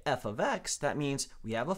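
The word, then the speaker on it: f(x): This here is, if you were going to read it out loud, you would say f of x.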